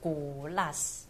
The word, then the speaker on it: Kolas: 最正确的发音就是 Glass， Glass， Glass，所以重音要放，就是要停顿一下讲 Glass。